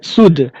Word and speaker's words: soothe: So whenever we find e at the last of spelling following th, so we pronounce it like soothe.